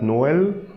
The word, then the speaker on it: Noël: But let's suppose I want to pronounce O separately and E separately. So I'm going to add a trimmer on E. So by seeing the trimmer, I will know that, okay, here I need to pronounce O separately and E separately. So here I will say no L.